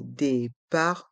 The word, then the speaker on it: départ: les départs Bonlieu les départs Bonlieu dans le mot départ les lettres T et S sont muettes départ et dans le mot